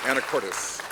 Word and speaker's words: Anacortes: Anacortes.